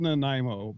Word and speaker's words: Nanaimo: How's it pronounced, Jim? It's called Nanaimo, but it took them a little while.